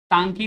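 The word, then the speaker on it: Ntangki: यहाँ पे एक ही नेशनल पार्क है, तांकी national park. तांकी national park, N silent है यहाँ, तांकी national park located in Peren district, ये नागालैंड के पेरेन डिस्ट्रिक्ट में लोकेटेड है।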